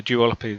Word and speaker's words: duopoly: So maybe there's a bit of a duopoly there.